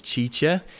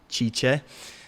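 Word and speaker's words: Cice: Her name is Chicha. She's going to be answering your questions. So you can go and say what's up to her. Her name is spelled C-I-C-E, Chicha.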